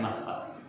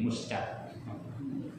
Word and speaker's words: Masqat: Ya, dibacanya Masqat. Ya, cuma ejaan Inggris jadi Muscat.